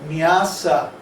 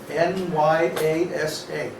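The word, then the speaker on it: nyāsa: After you do your tilak and achaman, then it's called nyasa, N-Y-A-S-A, Oh, I spelled it right. nyasa, with two long A's. Huh? Too long or one with a... Two long A's. Nyasa.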